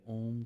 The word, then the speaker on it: ओम: जब आप ओम का उच्चारण करेंगे, तीन हिस्सों में करना है। ओ, इसकी हमिंग आपके लंग्स में होनी चाहिए, आपके सीने में होनी चाहिए। अंग, इसकी हमिंग आपके कंठ में होनी चाहिए। और म, इसकी हमिंग आपके सर के मध्य होनी चाहिए।